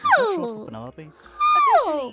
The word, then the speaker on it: Penelope: Penelope. Yes, but I never can be bothered with all four syllables of it.